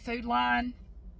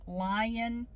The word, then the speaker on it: Food Lion: how to pronounce so I call it food line it's not l i n it's lion food line anyway I have